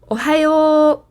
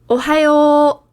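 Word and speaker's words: おはよう: Ohayo. One more time. Ohayo. So these two O's at the end are a way of showing that the sound is extra long here, the O sound.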